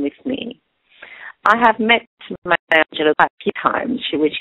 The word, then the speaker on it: Maya Angelou: Gus, how do you pronounce that? Maya Angelou.